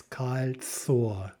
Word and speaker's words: кольцо: First o is immediately before the stressed syllable, so it's кольцо.